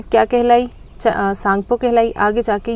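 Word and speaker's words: Tsangpo: सांगपो, यहाँ पे T silent है।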